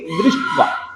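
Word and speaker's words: दृष्ट्वा: अब देखिए, इसमें भी द हलंत है और री जुड़ा हुआ है, तो हम बोलेंगे दृष्टवा। दृष्टवा, द को पूरा नहीं बोलेंगे, दृष्टवा।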